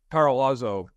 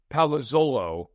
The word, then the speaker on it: Palazzolo: I mean, right now, Steve Parolazzo, that's a bad job by me. I'm Italian. I should know how to pronounce his name. Steve Palazzolo, thank you.